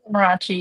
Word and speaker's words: Amarachi: It's Amarachi, yeah.